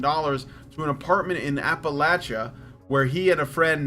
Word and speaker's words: Appalachia: to an apartment in Appalachia where he and a friend now pay 500 each a month that's awesome and it is pronounced Appalachia this is what the Appalachians say and this is where